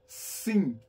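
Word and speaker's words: שׂ: o som da pronúncia se o dages estiver do lado direito se escreve sh xim se é o Dag estiver do lado esquerdo se escreve sim com letra S lembra que nós temos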